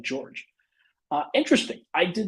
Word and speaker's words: Georges: George niang is silent and is just pronounced like George uh interesting I did not know that because I've heard them talk about him on the broadcast and I thought they said Georges uh okay George nieh